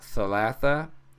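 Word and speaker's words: ثلاثة: But thalatha, that is how you say 3, and that uses the letter th.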